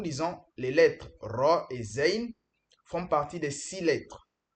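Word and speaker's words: زاي: Attention, il faut bien prononcer cette lettre. On dit la lettre zin différent de la lettre zal.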